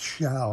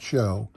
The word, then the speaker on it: Show: time because he was a good catcher eric shao it's pronounced shall not show eric chow gave up uh pete rose's uh